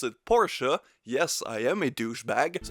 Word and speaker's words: Porsche: He's of course very pissed, so he goes back to his Porsche, and yes, I pronounce it Porsche.